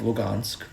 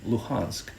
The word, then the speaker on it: Luhansk: To get deeper still, I happen to be born in the town of Lugansk, or if you prefer the Ukrainian pronunciation, Luhansk. I personally like how Lugansk sounds more, and it's my right to refer to my home whichever way I choose to, despite the hard G being the pronunciation of the oppressor.